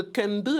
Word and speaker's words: Dikendi: Ça s'écrit comme ça, mais c'est de Kende à Paradis. Dikendi à Paradis. Voilà, c'est en D'accord. langue bafia du Cameroun.